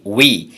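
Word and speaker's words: we: এই উই শব্দের দুটো উচ্চারণ, একটি হচ্ছে উপরে সেটা হচ্ছে স্ট্রং প্রনাউন্সিয়েশন, আর নিচেরটি হচ্ছে উইক প্রনাউন্সিয়েশন। স্ট্রং প্রনাউন্সিয়েশনে উই অর্থাৎ লং সাউন্ড, ইটা এখানে লং ই দেয়া আছে অর্থাৎ দীর্ঘ ই, সেটা হচ্ছে উই। আর পরেরটা হচ্ছে শর্ট ই বা খাটো ই, সেটার উচ্চারণ হবে উই।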